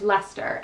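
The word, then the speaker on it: Leicester: i was so my where i am is lester and it's spelled i'll spell it on the screen because i'm i i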